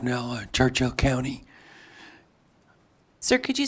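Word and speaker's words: Knell: It's pronounced Nell, like knee and knife.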